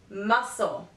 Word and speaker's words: muscle: Det subtle letter C the letter C is usually not pronounced in the combination s C for example scissors fascinate muscle now letter D the